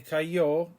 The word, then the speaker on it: cayó: He fell, se cayó, accent on the O.